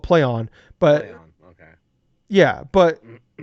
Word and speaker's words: Plaion: So it's actually called Playon.